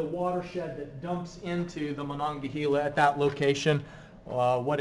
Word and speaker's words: Monongahela: If I say it slowly, I'll say it right. Monongahela.